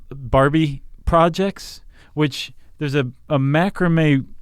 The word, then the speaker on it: macramé: And there's this post called, "There's a reason why the word macrame rhymes with scare away."